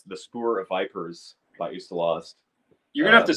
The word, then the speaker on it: Ustalost: Honestly, Ustalost, that's The Spoor of Vipers by Ustalost. You're going to have to spell that for me, man.